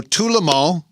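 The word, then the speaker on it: Tout le monde: Thursday night okay so to lhamo translated from French means everyone it was also a song on euthanasia right it is gonna stop you you pronounced it right how many people say that wrong I can't poo I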